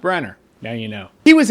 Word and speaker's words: Branagh: And Kenneth Branagh was asked, actually you pronounce his name Branagh. I didn't know that, but it's spelled Branagh. It's pronounced Branagh.